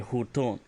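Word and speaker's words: huttuun: There will be a hutun. And that is spelled H-U-T, Beton, U-U-N.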